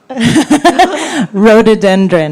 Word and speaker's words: Rhododendron: ใ ช ่ ค ่ ะ How do we pronounce the title? Rhododendron.